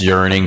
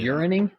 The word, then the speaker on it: yearning: Urinating? Yeah, yearning. I don't think that's the word. Urinating. Yeah. Not urinating. No, yearning, like a longing. Yeah, you're adding a syllable.